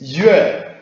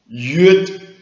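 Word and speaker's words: 粵: So Middle Chinese, sorry, okay, modern standard Chinese, yue, Middle Chinese, hua, and Old Chinese, glad, okay? So, amazingly, Cantonese, modern Cantonese language retains this ancient ending that in its pronunciation of this word. That is yut.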